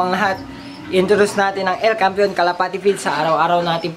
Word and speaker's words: El Campeon: And then El Campeon, ay aliwa lamang, El Campeon Pigeon Feeds yun ang tamang pronunciation mga kalapati.